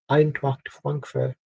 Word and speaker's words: Eintracht Frankfurt: That's how you say it, you go Eintracht Frankfurt. You don't pronounce the R for some reason. Or R's.